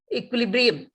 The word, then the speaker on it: equilibrium: see is equilibrium so u i is pronounced as w i equal equilibrium and then it means